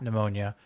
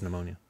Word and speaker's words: pneumonia: Okay, I get for somebody who has pneumonia. I get that the P is silent.